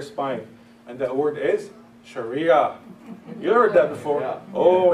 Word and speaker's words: Sharia: That's how we pronounce it, Sharia, in the Arabic language.